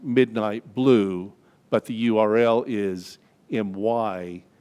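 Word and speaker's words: mydnytblu: smell touch taste and hearing there's a website pronounced midnight blue but the url is my d n y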